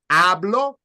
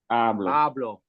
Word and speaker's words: hablo: in half blue do but you don't prolong the sound again hablo hablo and the next word